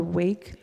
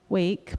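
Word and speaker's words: WAYK: So I say wake but other people say um they pronounce it differently but anyway um so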